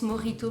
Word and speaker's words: Mojito: Ça se prononce Morito, ma puce.